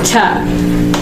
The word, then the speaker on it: to: No lo dices to, dice ta. The twins must go to sleep. Ta. No o.